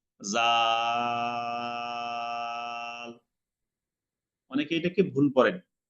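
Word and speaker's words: ذال: জিহ্বার আগা উপরে 2 দাঁতের আগা থেকে উচ্চারণ হবে, পাতলা হবে, বাতাস বেশি বের হবে না। জাল। অনেকে এটাকে ভুল করেন, জাল জাল এভাবে শক্ত করে বলেন।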